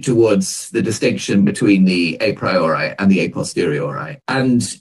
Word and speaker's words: a priori: and the a posteriori at least i'll pronounce it that way some people say a priori are posteriori but i'll say a priori a posteriori um so in this